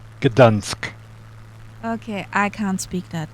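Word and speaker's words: Gdańsk: it's Gdansk. Gdansk.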